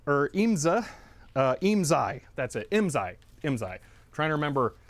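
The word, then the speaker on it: IMSAI: It's very similar to the IMSA, or IMSI. That's it, IMSI. Trying to remember how to keep the pronunciation straight.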